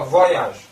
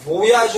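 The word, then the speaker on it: voyage: 그리고 아까 무아야즈. 그게 모야즈 어디 가서 그렇게 발음하고 저한테 배웠다고 하지 마세요. 모야즈가 아니고 무아야즈.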